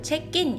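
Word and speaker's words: เช็คอิน: 체인. 그래서 여기서는 체크인이라고 안 하고요. 체인 이렇게 이야기합니다.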